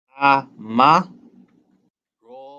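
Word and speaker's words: أَمَرَ: So Aleph with fatha is A, Mim with fatha is Ma, A, Ma, Ra with fatha, Ra, A, Ma, Ra. And we end up with Amara.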